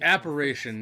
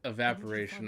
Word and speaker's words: apparition: Oh, it's apparition, not evaporation. I've been saying it wrong the whole time.